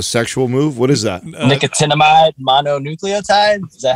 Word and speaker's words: nicotinamide mononucleotide: an acronym a sexual move what is that nicotinamide mononucleotide is that how you say it yeah you